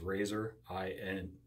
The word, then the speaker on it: Razorine: And it's spelled just like it sounds. Razor, I-N-E. Razorine.